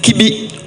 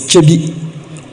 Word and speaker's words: Kyebi: Why still spell it Kibi when it is Kyebi?